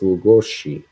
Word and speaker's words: Lugosi: Bella Lugosi. It's pronounced Lugosi.